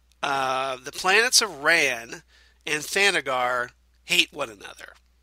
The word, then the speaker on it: Thanagar: But isn't there a planet of Thangor, I believe? Thanagar? Yeah, Thanagar, where there is this whole police force that look like birdmen, right?